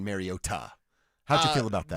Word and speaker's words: Mariota: He said it was Mariota. Okay, well, if that's the way you pronounced it when you got drafted, like, why didn't you say that?